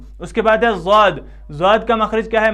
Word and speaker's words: ضاد: کچھ لوگ اس کو داد پڑھتے ہیں، کچھ زاد پڑھتے ہیں، کچھ زواد پڑھتے ہیں، کچھ کیا، وہ سب طریقے، وہ سب جو بھی تلفظ ہیں وہ سب غلط ہیں، بلکہ صحیح طریقہ کیا ہے؟ ضاد.